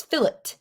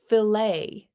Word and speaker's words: fillet: Well, I don't pronounce this fillet. I pronounce it filt.